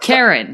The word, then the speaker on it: Charon: discuss season 2 episode 4 a novel for Karen yeah did I say that right Karen goes about Karen Karen yeah yes ok so Wes was kind enough to make sure that I pronounced that correctly so he's my universal translator